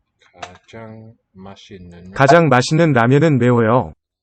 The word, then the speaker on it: 가장: 가장 is this adverbial. Ka, first syllable, and then 장, got the same vowel. That's the symbol on the right, top right. 가장 맛있는.